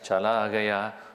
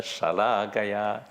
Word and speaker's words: shalakaya: Ajnana timira andasya jnana anjana chalagaya. No. Jnana anjana shalakaya. If you pronounce this differently, chalagaya.